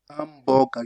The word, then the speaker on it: hamburger: Hamburger, you forgot about the H in Italian.